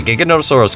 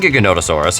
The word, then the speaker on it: Giganotosaurus: The name Giganotosaurus has nothing to do with the word gigantic. Giganotosaurus is Greek for giant southern lizard, not gigantic lizard as it's often mistranslated and mispronounced.